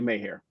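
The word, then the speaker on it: Maher: Ilyona Mahar. Yes. I hope I'm pronouncing that correctly. Mayhair. Okay, Mayhair. Yeah.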